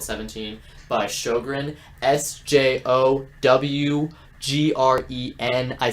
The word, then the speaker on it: Sjowgren: I found this song called 17 by Sjogren, SJOWGREN. I said that because they deserve way more attention. They're really talented. Verbally say their name again. Sjogren. Sjogren. But it's not spelled like that.